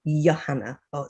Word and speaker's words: Johanna: Now, my full name is Johanna, which is a bit of a handful. So it's pronounced with a Y sometimes. It's written with a J. So if I'm in broadcast, I will say Johanna, but call me for short.